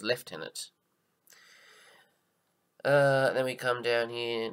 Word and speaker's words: lieutenant: in the Australian forces we don't pronounce this as lieutenants like they do in America I believe we follow the British pronunciation which is left in it then we come down